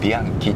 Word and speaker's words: Bianchi: Like, "Bee aang chee" "And this is called something blue." "Oh, this is pronounced Bee aang kee."